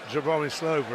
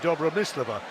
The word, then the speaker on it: Dobromyslova: surname which of course from a Russian perspective wouldn't be Jeremy Slover it's beat Jabra miss Leveaux and she said yeah